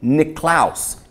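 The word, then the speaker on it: Niklaas: The Dutch, Northern Europe, freezing their off, and their name was, they pronounced St. Nicholas, Sint, S-I-N-T, Niklaus, N-I-K-L-A-A-S.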